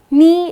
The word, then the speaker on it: knee: so that's knee now the correct pronunciation is knee but the moment you look at the spelling it's k-n-e-e so you keep wondering